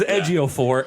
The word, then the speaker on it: Ejiofor: So I watched how to say it, and then I phonetically spelt it out. But I knew it was Ejiofor, and for those that don't know who that